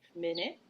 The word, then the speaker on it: minute: about old French okay minute has a stress on the first syllable and it's a short vowel I sound and so it's kind